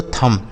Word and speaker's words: thumb: इसे थंब नहीं पढ़ेंगे जो दोस्तों, देखिए यहाँ जो बी लिखा है ना, यह साइलेंट होता है, इसको नहीं पढ़ा जाता है। तो इसे हम केवल क्या पढ़ेंगे, थम। थंब नहीं थम।